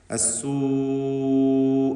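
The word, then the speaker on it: السوء: അസ്സൂ എന്ന പദത്തിലുള്ള ദീർഘം മദ് മുത്തസിൽ വാജിബ് എന്നതാണ്. നിർബന്ധമായും അതിലുള്ള ദീർഘാക്ഷരമായ വാവിന് 4-5 ഹറക്കത്തിൻ്റെ അളവിൽ ദീർഘിപ്പിക്കേണ്ടതാണ്.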